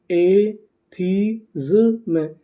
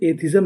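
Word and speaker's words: atheism: एथीज्म, एथीज्म, एथीज्म। एथीज्म का मतलब होता है नास्तिकता। अगर आप इसे चाहें तो इसे एथिज्म भी पढ़ सकते हैं। इसका सही उच्चारण क्या है? एथीज्म।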